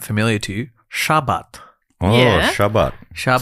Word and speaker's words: Shabbat: sound familiar to you, Shabbat. Oh, Yeah. Shabbat. Shabbat. Is that a religious thing? Well, that's the Sabbath, I guess, which I think in Hebrew they would pronounce it like Shabbat. Right.